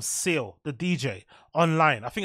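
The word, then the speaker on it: Ceil: I think it's my girl called Seal, the DJ, online. I think that's how you pronounce her name. If it's not, I apologize. But I think it's pronounced like C-E-I-L, right?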